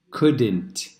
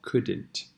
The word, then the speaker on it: couldn't: Couldn't. Couldn't. Sin L, sin O. Couldn't.